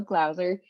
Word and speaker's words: Glower: pronounce my last name it rhymes with browser so glower and yeah we're just